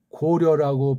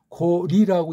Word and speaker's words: 고려: 그 앞서 있는 고려라고 발음하는데 이거 원래 고리라고 읽어야 됩니다.